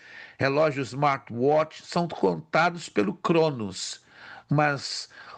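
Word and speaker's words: χρόνος: Se pronuncia em português cronos, mas no grego é Cronos e Kairos.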